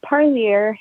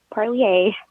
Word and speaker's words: Parlier: little hint of mine it's parlier not parlier unfortunately unfortunate doesn't have that french um sound like some has been pronouncing it and continuing forward the